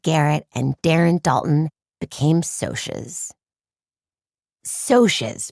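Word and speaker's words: Socs: Diane Lane, Leaf Garrett, and Darren Dalton became Sosas. Sociases, pronounced Sosas with a long O, but you likely knew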